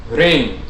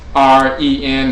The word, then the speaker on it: rin: In ancient Kemet, the term for name is rin. R is spelled in the Mendutsu R-N. Often you'll see some people translate it as R-E-N and say Ren. In Akhan we say Rin or Din.